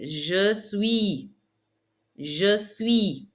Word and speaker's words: suis: Répétez, je suis.